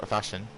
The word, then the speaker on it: Fashix: A 19.977 on the mediums for Fashix, or Fashion, as I've been instructed. Is how you pronounce his name.